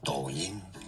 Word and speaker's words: Douyin: Douyin.